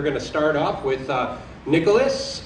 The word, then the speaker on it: Nicolas: We're going to start off with Nicholas, or Nicolas, if you pronounce it correctly in French, from Aura, formerly, many of you know him as Nicholas from Video Stitch.